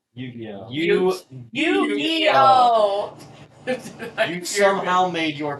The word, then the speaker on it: Yu-Gi-Oh!: You Gio? Yu-Gi-Oh! Yu-Gi-Oh! You somehow made your first pronunciation even worse.